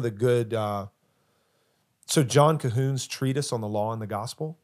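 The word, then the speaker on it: Colquhoun: the the gospel and cahon is spelled weird c o l quu yeah uh it that is weird I thought you were saying C weird yeah but no cahun John cahun uh so he's got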